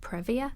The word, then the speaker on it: previa: Yeah, there's a lot that a woman's doctor can advise her about if she's got, I never pronounce this right, perhaps you can help me, placenta previa? Yeah, previa.